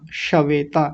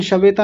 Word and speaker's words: श्वेता: श्वेता में यह जो दिख रहा है यह आधा है। पूरा नहीं है। अगर पूरा होता तो हम क्या बोलते? श्वेता। श्वेता ऐसा बोलते। लेकिन श्ववेता नाम की कोई चीज नहीं होती। श्वेता होता है।